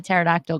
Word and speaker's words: pterodactyl: can't you hear a pterodactyl go to the bathroom why not because the p is silent i hate you i